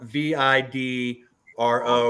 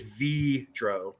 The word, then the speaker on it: Vidro: asked Mark I'm like how's it pronounced it's spelled v-i-d-r-o and he's like I think it's V Dro like Devo vidro you know oh okay